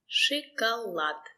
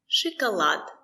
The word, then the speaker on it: шоколад: The stress is on lad. Шоколад.